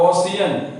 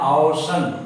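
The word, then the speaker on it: ocean: ठीक उसी तरह से ओ सी ई ए एन, इसको लोग पढ़ता है ओशियन, लेकिन इसका रियल प्रोनाउंसिएशन है ओशन, तो इसको हम लोग पढ़ते हैं ओशन।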